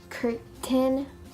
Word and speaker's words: curtain: lot of practice so and then we have curtain curtain it's curtain curtain written written so you